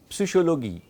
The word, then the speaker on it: Psychologie: There is no P. But in German, Psychologie.